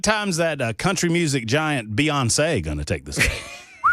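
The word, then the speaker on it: Beyoncé: Beyonce. It's like fiance. The accent on the Beyonce.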